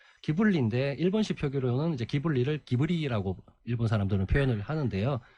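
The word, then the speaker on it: Ghibli: 아까 이탈리아라는 예 기블리에 일본시 표기로는 이제 기블리를 기브리 아고 일본 사람들은 표현을 하는데요 그 미아자키 하회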